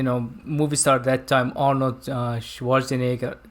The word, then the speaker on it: Schwarzenegger: movie star that time arnold schwarzenegger that's how he pronounced his name right schwarzenegger uh like german tongue arnold schwarzenegger okay so